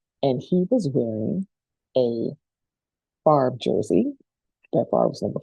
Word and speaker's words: Favre: And I'm like, oh, it's Favre.